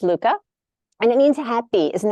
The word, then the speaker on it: Lykke: it's uh a lot of people call it likey it's uh pronounced Luca and it means happy isn't that cute but